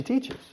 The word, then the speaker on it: teaches: Teaches, dos sílabas, 2 syllables and teaches. Why? Third person singular. I teach, you teach, she teaches. Okay? No se dice teaches. No, we add a syllable.